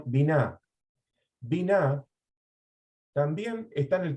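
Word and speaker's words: בינה: También existe una raíz hebrea que se pronuncia, biná.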